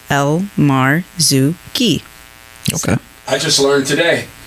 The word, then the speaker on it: Elmarzouky: you spell that but when you break it down it's spelled exactly how it sounds El Mar Zuki okay I just learned today yeah elar Zuki welcome to the club